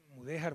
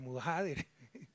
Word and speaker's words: Mudéjar: Mudéjar, mudajader, invierto la sílaba.